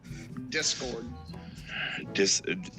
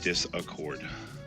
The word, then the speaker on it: Discord: Why does everybody add that extra syllable onto Discord? What extra syllable? Discord. I've heard a lot of people call it disaccord.